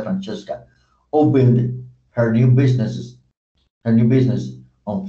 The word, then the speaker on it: Francesca: Francesca, aquí fue Francesca, porque es un nombre italiano y se pronuncia Francesca, opened her new business on Franklin Street.